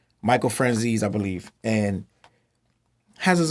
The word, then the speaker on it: Franzese: Michael Franzese, I believe. I said it wrong. Michael Franzese, I believe, and has his own YouTube channel.